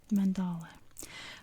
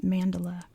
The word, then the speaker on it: mandala: I hesitate because I used to have a friend named Mandala, so if I slip and say mandala, it was spelled the same way too. I apologize, but it's pronounced mandala.